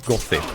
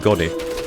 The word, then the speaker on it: Gothi: gothis by the way the proper pronunciation for that is gothy not go just going like made simpler because they have the sign of like when you have th then it's not like the p sound It's Kind the weird